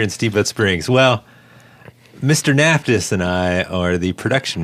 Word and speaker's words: Naftis: Naftis. Hello. Good to be here, everybody. How do you pronounce his last name of yours? You nailed it, Naftis.